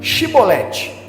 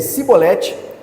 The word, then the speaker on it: Shibolete: Se ele respondesse não, então diziam: digam então, Shibolete. Se ele dissesse Sibolete, sem conseguir pronunciar corretamente a palavra, prendiam-no e matavam-no no lugar de passagem do rio Jordão.